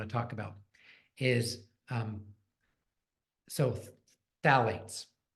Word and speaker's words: phthalates: Okay, now the next thing I want to talk about is so phthalates. Phthalates. PTH. It's not. It's. I should say phthalates. It's the silent. The P is silent.